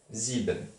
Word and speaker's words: sieben: S-I-E-B-E-N. Il ne faut pas oublier le E de sieben. Il y a un E qui ne s'entend pas. Sieben.